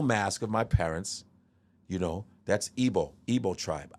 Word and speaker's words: Igbo: That's Igbo tribe. IGBO. The G is silent. Okay. Igbo, right? Igbo.